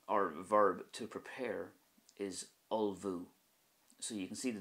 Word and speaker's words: ullmhú: The word or verb to prepare is ulvu.